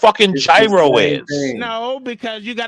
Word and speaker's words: gyro: special it is pronounced gyro you Savages thank you